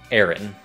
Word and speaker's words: Aaron: Các bạn cứ đọc phần đầu giống như từ Air, Aaron.